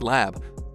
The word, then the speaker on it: Elle: Before Elle, pronounced L, like the letter L, opens her eyes.